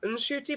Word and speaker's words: Ncuti: Well, apparently it's pronounced Ncuti, but he didn't even know that until he was like 26, and his mom corrected him.